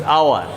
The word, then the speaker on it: hour: We use hour. Here H remains silent.